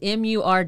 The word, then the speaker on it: Murdaugh: Yeah, and the name Murdaugh is Murdough. Yeah. So, but it's pronounced Murdaugh, because we had a Murdoch, big yeah.